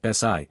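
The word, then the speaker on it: 四: Note, although for in Chinese is pronounced SI, sure is likely used here because SI does not sound as good.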